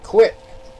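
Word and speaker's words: Kiwitt: card too at welterweight freddie quit 20 and three but it's not spelled like q-u-i-t's k-i-w-i-t-t he's fighting um marab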